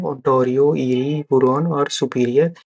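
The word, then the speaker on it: Erie: ये से बना ईरी लेक, ये में वाई साइलेंट है, इसको ई से ध्यान दीजिए, ईरी लेक।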